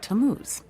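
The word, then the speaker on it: Tammuz: It's pronounced Tamuz.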